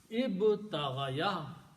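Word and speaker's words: ابتغى: So this word will be pronounced as ib ta gha. Ibtagha. Okay. Instead of ibtagha ya, we pronounce this, instead of ya, we pronounce alif. So it becomes ibtagha.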